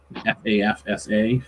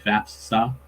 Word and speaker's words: FAFSA: easier to say fast fall but it's faf fafsa fafsa is the free application for student aid years